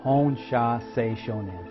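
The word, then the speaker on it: Hon Sha Ze Sho Nen: the you silly distance healing simple it is pronounced hone sha say Shoshone practice drawing it and saying it without the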